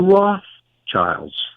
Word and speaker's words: Rothschild: I'm talking about the Rothschilds, as they like to pronounce it. I like to pronounce it as two German words, Red Shield, Rothschild.